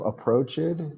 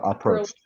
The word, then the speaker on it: approached: who bro bro Yancy instead of instead of approaced it's kinda it's two syllables are and then Prost Prost Prost yeah approached dick Taylor was described as white and in